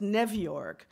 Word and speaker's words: New York: Even city place names were Yiddishized, pronounced Nevyork and the Bronsk.